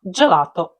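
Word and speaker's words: gelato: словах гатто гонна гуфо G плюс голосні і е читається ддже як у словах джелато джорнале але якщо між д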